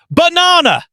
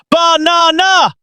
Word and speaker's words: banana: LOOK AT THE WORD BANANA. YOU THINK IT IS pronounced banana.